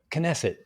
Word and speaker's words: Knesset: oh the the parliament in Israel Parliament knesset knesset thank you so several members of they were